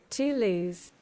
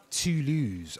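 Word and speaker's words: Toulouse: How do you pronounce that? Tulus. Tulus. Okay then. So I pronounce it wrong. So at Tulus in France, the profits were shared between the city and the university in England.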